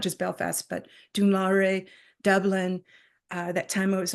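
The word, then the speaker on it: Dún Laoghaire: One that a friend was doing on the beach, one that a friend was doing in Dunlore.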